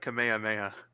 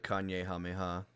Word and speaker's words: Kamehameha: like Fortnite tutorials and they do not know how to pronounce Kamehameha. The Kanye Hameha.